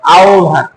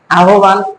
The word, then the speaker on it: আহ্বান: আর এই হলো আহ্বান উচ্চারণটা কি দাঁড়ালো এর উচ্চারণ হলো আহ্বান আহ্বান আমরা ব্যবহার করি এটা হবে না একই নিয়ম